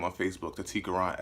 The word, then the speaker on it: Tequran: just gonna go by Tequran. You know, my name has 3 syllables, so I feel like it could stand alone.